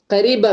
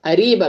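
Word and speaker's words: قريبة: Egyptian வந்துட்டு இது எப்படி கேட்பாங்க அப்படின்னு சொன்னா ஃபி மஹத்தத் மெட்ரோ கரீபா மின் ஹேனா ஃபி மஹத்தத் மெட்ரோ அரீபா மின் ஹுனா. அந்த கரீபா அப்படிங்கிறத வந்துட்டு காஃப் வந்துட்டு இவங்க வந்துட்டு கம்ப்ளீட்டா ப்ரொனவுன்ஸ் பண்ண மாட்டாங்க ஹம்சாவா ப்ரொனவுன்ஸ் பண்ணுவாங்க அரீபா அரீபா மின்ஹேனா ஓகேங்களா.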